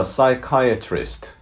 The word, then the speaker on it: psychiatrist: 먼저 psychiatrist, 발음이 좀 어렵죠? PSY 할 때 P는 발음이 안 됩니다.